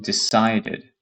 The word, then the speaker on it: decided: Now, the sound that is before the E is the D, right? Decide. That's the last sound that you hear. So this falls into the category for pronunciation where you're pretending like you have the D as the last letter. Okay. So decided. You can see you pronounce everything. Decided.